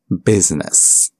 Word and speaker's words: business: The I is not usually silent. It's usually pronounced, except in the word business.